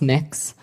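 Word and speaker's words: Mx.: It's pronounced Mix. Um Mix.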